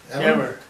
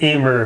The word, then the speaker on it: Emmer: we've got Dwayne, and I guess it's Emmer? Emmer. Emmer. You could pronounce it Emer if you want to.